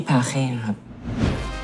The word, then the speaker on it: Paris: C'est un café à dessert bien connu à Paris. Paki ? Vous aviez dit en France, non ? Pourquoi au Pakistan, maintenant ? Je voulais dire "Paris". En français, Paris se prononce "Pari".